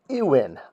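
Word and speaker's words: iwn: of columns used and this is the one that's pronounced Inn i w n and that's not a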